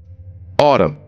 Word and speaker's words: autumn: Autumn, here N is silent.